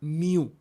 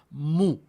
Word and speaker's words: mu: Noten que no es miu. Estamos otra vez, pronunciación estándar, es mu. entonces debemos pronunciarla correctamente, es como la M de más.